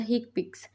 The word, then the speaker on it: HCPCS: common procedure coding symptoms commonly pronounced as the hick picks are a set of